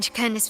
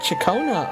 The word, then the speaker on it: Ciaconna: Back then, Chicon's family conducted the orders quiet. Oh, it's called pronounced Chakona.